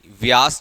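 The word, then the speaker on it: Beas: Chenab comma राबी comma बियास, व्यास जरूर बोलते हैं, spelling goes like बियास, बियास and Sutlej are famous reverse of this section, are famous reverse of this section.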